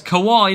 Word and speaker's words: Kawhi: Kawhi or Kawhi? It's Kawhi, not. Say it like I have.